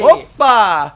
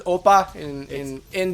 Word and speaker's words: oppai: Oppa! Everyone says Oppa in the internet's Oppai. It's Oppai. Yeah. Oppai. Well, if you actually pronounce it correctly, it's Oppai.